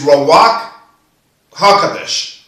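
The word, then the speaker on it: Ruach HaKodesh: Now we go to number 2, which is the life giver, with the breath of life, also known as Rawak HaKodesh. Let me spell that for you.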